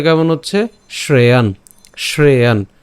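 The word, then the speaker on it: শ্রেয়ান্: উচ্চারণটা কেমন হচ্ছে শ্রেয়ান শ্রেয়ান শ্রেয়ানও কিন্তু উচ্চারণ করিনি কেন কারণ এখানে কি আছে একটা হস চিহ্ন আছে যার কারণ উচ্চারণটা কেমন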